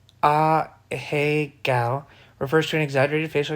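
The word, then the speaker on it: ahegao: An a gal face, pronounced a hey gal, refers to an exaggerated facial expression used in Japanese adult manga and anime hentai.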